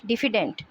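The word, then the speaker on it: diffident: डिफिडेंट इसमें word stress D पे आएगा।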